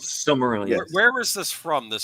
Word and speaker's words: Silmarillion: I don't know how to pronounce Red that Rum. thing. Roy Hames. Is this from the Similenian, whatever it's called? Silmarillion.